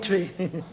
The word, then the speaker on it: Twi: do your attention Yaman it's spell twi but it pronounced tree around good language and make me tell you mrs.